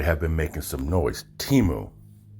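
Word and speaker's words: Temu: been making some noise Teemo not before you pronounce it Timo or Tamil again I didn't see the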